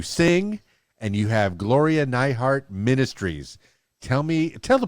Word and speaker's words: Nihart: like i'm going to get very uplifted miss nyhart and i hope i pronounced your last name correctly yes you did yay gloria neihart now i i i know that you uh